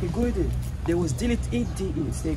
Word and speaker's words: Gorée: Yeah, but in French they pronounce it Goree.